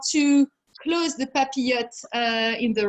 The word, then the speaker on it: papillote: So papillote, it's almost related to papillons, which is some sort of butterfly.